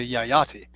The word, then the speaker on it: Yayati: that's what I mentioned I didn't pronounce yah yah tea not Jedi see Maharaja Yayati yes he's the one